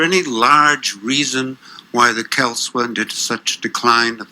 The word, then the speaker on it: Celts: is that before Rome, the Celts, as scholars tell me I should pronounce the word instead of Celts, the Celts were the ascendant people, numerically at least, Yes.